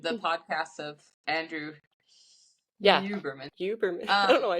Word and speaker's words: Huberman: I thought I would keep Oh, wanting to say Humerman, and I'm like, nope, not oh. Humerman.